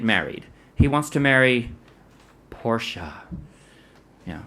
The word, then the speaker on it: Portia: he wants to marry Portia yeah just like the fancy car you know a woman named Portia has got to be good you know so but it's spelled differently P ort I a Porsche so but Fanny wants